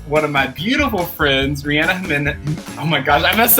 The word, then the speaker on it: Reanna Jiminez: I am here with one of my beautiful friends, Reanna Jiminez. Oh my gosh, I messed up. Why is it so hard for me? Reanna Jiminez.